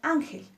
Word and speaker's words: Ángel: con la palabra Ángel Ángel tiene dos sílabas al igual que árbol nuestra sílaba tónica en Ángel es an y nuestra palabra Ángel termina en l que es distinta a n y s por lo tanto lleva acento gráfico al igual que árbol